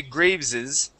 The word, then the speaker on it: Graves's: It already has an S at the end of it. And when you add an apostrophe, okay, you wouldn't necessarily add another S in saying Graves's. Okay. But yes, you do say Graves's.